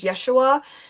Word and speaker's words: Yeshua: From my understanding, it is actually uh pronounced as Yeshua. So, there are times where I like to I prefer to call him Yeshua.